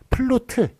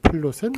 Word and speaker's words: 플루트: 여러분들이 플룻이라고 많이 알고 있겠습니다만 자, 보세요. 이게 우가 이게 장음이네요. 장음이다 보니까 장음에는 받침 못 씁니다. 그래가지고 요거를 뒤에로 쓰는 플루트 요 발음이 뜻밖의 맞는 거예요. 요 표기가. 그래서 여러분들이 흔히 쓰는 플룻이라고 쓰는 것 그거는 틀린 표기가 되겠습니다.